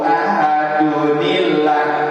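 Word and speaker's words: أَحَدٌ ٱللَّهُ: Kenapa enggak ahadun Allah? Nah, terbelajar lagi kan tasrifnya sama Pak Haji. Kita ya, kenapa sih? Kenapa harus dibacanya dunillah gitu? Kenapa enggak dun Allah? Qul huwallahu ahadun Allahu samadun. Nah, gitu ya. Karena dibacanya dunillah katanya ya.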